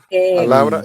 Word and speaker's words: palabra: Palabra es la penúltima, por lo tanto es una palabra grave.